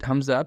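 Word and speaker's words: ء: So from your lower throat, from here, okay? From here. So you pronounce these 2 letters, hamza and ha.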